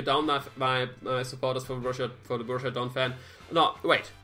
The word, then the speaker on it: Borussia Donphan: I don't say Borussia. Borussia is wrong. I'm just accustomed to all the guys which are English speaking. It's Borussia. Borussia Donphan. All listening, Borussia Donphan is the way to pronounce it.